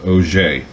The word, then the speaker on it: Auger: my guest today, Og. Is that how No, actually, it's a French name. It's pronounced Auger.